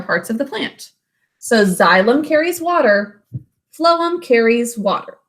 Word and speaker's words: xylem: tubes that are called xylem spelled with an x xylem carry water from